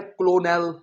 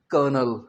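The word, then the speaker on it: colonel: तो कर्नल के सही स्पेलिंग है सी ओ एल ओ एन ई एल देखने में लगता है क्लोनल नहीं इसे आपने कहना है कर्नल यहां कोई आर नहीं आएगी स्टूडेंट्स आर लिख देते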